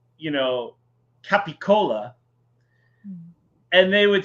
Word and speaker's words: capicola: hear people, you know, they don't want a cannoli, they want a ganole, and or you know, they want gabagool instead of capicola.